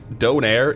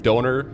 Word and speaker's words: donair: Donaire is like I have learned from streaming that depending on where you live donaire is either pronounced donaire donor donor kebab yro jurro and it's like they're all kind of very similar but very but also slight differences.